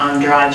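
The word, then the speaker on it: Andrade: and a Brazilian gymnast whose name is Rebecca Andra I believe is how it's pronounced and both of them in a little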